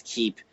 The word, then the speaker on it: Kiip: the gaming space but most people just pronounce it as Kip and then I tell them it's keep and then they'll remember